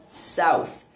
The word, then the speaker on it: south: Acontece que Carmen Miranda, recém-chegada aos Estados Unidos, tinha muita dificuldade de pronunciar a palavra south por causa do fonema TH presente no final desta palavra.